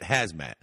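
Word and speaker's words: Khazmat: Why the fuck would you put a silent K in front of someone? For what? For what fucking earthly reason would it be K-H-A-Z-M-A-T and you pronounce it Hazmat?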